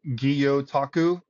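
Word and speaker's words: gyotaku: seen from you, which is the the Japanese Gutaku. Is that how you say it? Yes. Uh or it's pronounced guotaku. Guyotaku.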